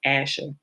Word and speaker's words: Asher: So that will be ASR, would be Aleph Shin Resh, and they pronounce it as Asher.